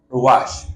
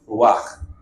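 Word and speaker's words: רוח: De hecho, así como en griego tenemos neuma, con P, neuma, la palabra equivalente en hebreo es ruach o ruach. ¿Ya? Eso es, obviamente se escribe con letras hebreas, pero si usted lo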